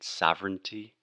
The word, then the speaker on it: sovereign: eastern or sovereign and sovereignty we just do not pay attention to the crazy writing and just think this is sovereign earn far in far in okay and also alex